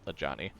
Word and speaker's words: Ajani: It's AJANI. Yep, a Johnny.